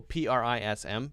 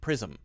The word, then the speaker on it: prism: zum zum sound but when we actually say an ism for example PR is M prism prism Prison Prison Prison prison prism prism we're trying to avoid that sound very quick as quickly as you can to jump from one sound to the next prism okay